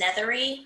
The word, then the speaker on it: Nethery: My name is Nethery, rhymes with feathery.